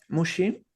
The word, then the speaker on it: Muxi: Entonces yo me llamo Mushi. También tienen la incomodidad que Mushi suena como si fuese sushi, pero se escribe con X, entonces Muxi.